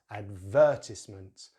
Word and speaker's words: advertisement: So our first word in British English is advertisement, advertisement. So we put the stress on the second syllable, the, which contains that